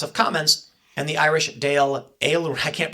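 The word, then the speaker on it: Dáil Éireann: the British House of Commons and the Irish Dale A. I can't pronounce Gaelic guy. Sorry. as doll Aaron.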